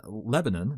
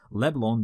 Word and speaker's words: Leblon: Living in an idyllic house near Lebanon, no, not really, I just said it wrong on purpose, Leblon Beach, Paiva returns to his civil career.